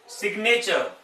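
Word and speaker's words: signature: Exceptions देख लीजिए जहां साइलेंट नहीं मिलेगा आपको। मैग्नेट, सिग्नेचर, सिग्नेचर, इसमें जी बोला गया, साउंड निकली है।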